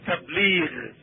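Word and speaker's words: تبليغ: We say tabligh. That's how Americans say it. The word is tabligh.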